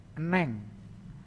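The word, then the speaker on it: 은행: Lanjutnya enheng, tulisannya enheng, dibacanya menjadi eneng.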